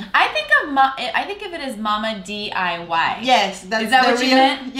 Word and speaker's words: Mamma DIY: Yeah, I think of it as Mama DIY. Yes, is that what you meant? Yes, that's the real pronunciation.